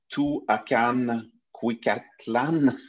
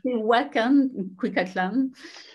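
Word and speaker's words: Tehuacán-Cuicatlán: Là, je vais essayer de le prononcer correctement. Tuacan Cuicatlán. C'est Tehuacan, Cuicatlán.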